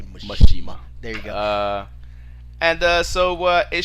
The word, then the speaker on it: Mishima: So the last time we see a Mishima in the Tekken game. You can't say it like that. You have to say Mishima.